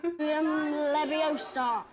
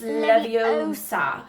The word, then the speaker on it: Leviosa: Leviosa. Oh yeah. Yeah, sure. That's how you do it. You're going to take someone's eye out. Besides, you're saying it wrong. It's Leviosa, not Leviosa.